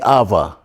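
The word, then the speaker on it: ⲁⲃⲁ: Because we pronounce it in Coptic, we read the Vita as V. So we say Ava.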